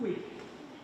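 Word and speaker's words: hic: Can I hear the basses from uic ergo? We don't pronounce the H in Latin, so uic is u. No H, cross the H out.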